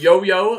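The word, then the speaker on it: youyou: cool sounds good and yo-yo again it's spelled like you you if you're y-o-u-y-o-u it's pronounced yo-yo apparently it was a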